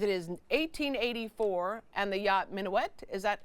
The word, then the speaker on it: Mignonette: It is 1884, and the yacht Mignonette, is that how you pronounce it? Mignonette, yeah.